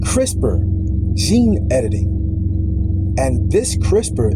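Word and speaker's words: CRISPR: Gene editing and this crisper in particular is spelled c r i s p r technology enables precise altercations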